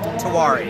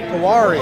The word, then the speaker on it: Tiwary: Tiwary. Tiwary.